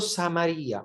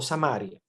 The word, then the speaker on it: Samaria: tenía que pasar por samaría o samaria se puede pronunciar de las dos maneras hay gente que a